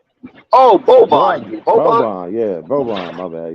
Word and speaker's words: Boban: I think that's how you pronounce his name. Oh, Boban.